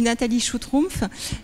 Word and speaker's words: Nathalie Schutrumpf: vois que vous avez eu très peur de prononcer mon nom je vais le faire donc je suis nathalie choux trompe je travaille pour liche pas qui est un